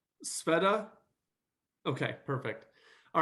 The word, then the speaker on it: Sveta: Uh and then just so I don't get your name wrong, Sveta?